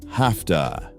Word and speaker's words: have to: In the US, have to sounds like hafta, and has to sounds like hasta.